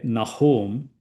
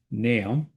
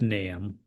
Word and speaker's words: Nahum: So Naam Naam one some people say nahome that's also fine. Uh the Hebrew pronunciation is completely different. Uh most people would pronounce nam or nam. So the dictionary is telling me it should be pronounced nam.